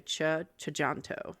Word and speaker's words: Tjahjanto: I think it's the the TJ is like a cha chanto okay that makes sense